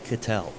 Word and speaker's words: Cattel: I just wanted to first bring up that Matt Cattel, the pronunciation of his last name. You got it. I was correct. Okay. I was correct. Okay, up first, Mike McGann. I was correct, Matt Cattel.